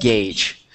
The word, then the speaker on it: gauge: um let's see there you go so it's pronounced gauge SO gas gauge so that's this right here